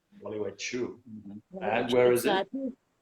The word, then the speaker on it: Gualeguaychú: oh, this is hard to pronounce. It's called Gualeguaychú. Gualeguaychú.